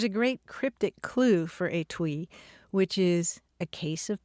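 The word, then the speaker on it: etui: sure to come across the word a twee or at twee it's spelled e-t-u-i and it means a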